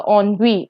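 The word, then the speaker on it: ennui: this word is uh on we okay this is pronounced as on we and your options here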